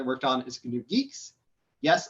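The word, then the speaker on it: Guix: most exciting project i worked on is canoe geeks yes it's pronounced like that uh well we're sort of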